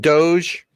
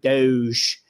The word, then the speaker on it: Doge: And by the way, as a Philly guy, every time I hear the word Doge, I crack up, because in Delco, they would pronounce it Doge, like Hoagie, right?